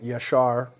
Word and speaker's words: Jasher: the book of jasher i pronounced it slightly weird with the with a why yashar but yes it is a reference to the book of jasher now everybody is always